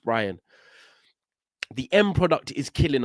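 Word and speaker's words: Bryan: the the end product buan has killed us or Brian sorry I think it's pronounced Brian the end product is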